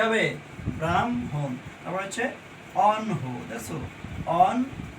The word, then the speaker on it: ব্রাহ্মণ: ম হর নিচে অনুসার তারপরে ম উচ্চারণ হবে ব্রাহ্মণ উচ্চারণ কি হবে ব্রাহ্মণ তারপর হচ্ছে অনহো দেখছো অন হ এটা কিন্তু